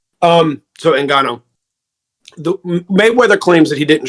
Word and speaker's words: Ngannou: Ngannou. That's why I kept calling him Francis. I didn't want to mispronounce his name. So Ngannou.